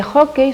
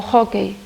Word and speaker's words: hóckey: unha vogal pechada, IU, que é precisamente o que sucede con hockey, que remata nesa última sílaba, ten un ditongo decrecente EI. Entón, por iso leva acento gráfico na penúltima sílaba.